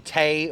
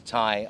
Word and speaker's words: Tay: or is it Ty my name is Ty I I know it's spelled ta y but it's still pronounced Tai think of one of these that you put around your neck that's what I'm like